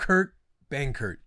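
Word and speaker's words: Kurt Benkert: a real gamer they're a real shout out Kurt Bangert okay that's how you say it right yeah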